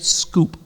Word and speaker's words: S Coupe: should buy yeah Hyundai scoop oh an es Coupe well in Europe it was called the es Coupe in North America it was called the scoop spelled the same pronounced different I swear to you